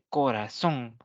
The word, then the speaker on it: corazón: por ejemplo eh la la palabra corazón la última tiene tres sílabas corazón y la última sílaba termina en una n por lo tanto va